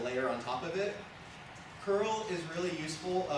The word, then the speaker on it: curl: tet has a layer on top of it curl is really useful oh it's actually pronounced C URL but it it's a really